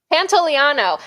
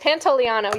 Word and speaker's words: Pantoliano: Pantoliano. I know how to say it. Pantoliano.